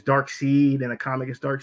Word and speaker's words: Darkseid: i really i love dark side well he in the cartoon they pronounced it as dark seed and the comic is